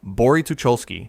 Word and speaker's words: Bory Tucholskie: Number one, Bory Tucholskie, Poland. Pronounced Bo-ry Tu-chol-skie.